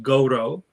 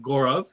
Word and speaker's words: Gaurav: It's pronounced Goro, right? So more similar to Goro, as the Americans would say.